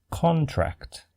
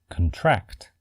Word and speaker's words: contract: When used as a noun, the first syllable is stressed and pronounced con.